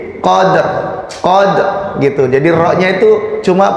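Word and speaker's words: قدر: Ini qaf fathah dal sukun. Ada qalqalah di situ. Qad gitu ya sebetulnya ya. Qalqalah sughra. Setelah itu langsung ro yang disukun, maka bacanya itu tadi fi lailatil qadr. Jadi qadnya itu dikolkolahkan dulu, kemudian baru ke ro-nya qadr. Jadi kayak mau membaca ro tapi ro-nya disukun, jadi makanya jadinya ya. Jadi qadr gitu.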